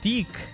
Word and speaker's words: Dieck: we have got uh deke and hopefully i don't get demonetized for saying his name i'm gonna try to pronounce it like zeke from shadows of valencia